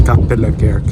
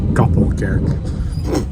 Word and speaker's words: Kapellekerk: De volgende halte is Brussel Kapellekerk. Oh, it's pronounced Kapellekerk. I said Kappelkerk. That's wrong.